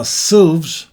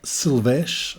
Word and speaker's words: Silves: it's all about silves now silves pronounced silves not sylvesh or anything like that it is a super